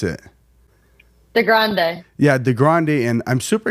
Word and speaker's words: DeGrande: How do you pronounce it? DeGrande.